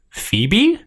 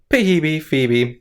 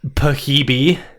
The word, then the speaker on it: Phoebe: well known name pronounced pahibi yeah usually the the the p and the h make a different sound yeah they make an f sound but yeah like you'd